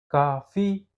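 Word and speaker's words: coffee: Cofi, cofe, cofe, cofi. Tidak bisa. Ki, kafi kafi. Oke, bisa ya dibedain ya. Maka silabel stres-nya adalah kafi.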